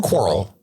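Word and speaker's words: Quirrell: you say his name is it quarrel quarrel like if I had a quarrel with you sir without an S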